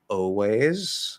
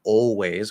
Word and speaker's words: always: You can say always or always, whether L colored or not, 4 very common, perfectly fine pronunciations.